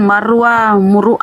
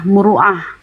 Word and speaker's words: muruah: Oh, bukan marwah, muruah. Bunda bilang marwah. Muruah.